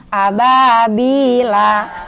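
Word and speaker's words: أبابيل: Kalau hidup ababila. Kagak boleh dibaca ababila kalau berhenti. Harus dibaca ababil. Karena dia hukumnya mad arid lis sukun.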